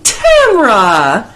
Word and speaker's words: Tamra: Hey, Tamra! Rhymes with camera.